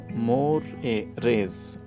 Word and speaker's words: mores: Sumner ने ही जो terms मोरेज़ है उसको पॉइंट किया है और इसका प्रोनाउंसिएशन कुछ इस तरह होगा, मोरेज़, ठीक है।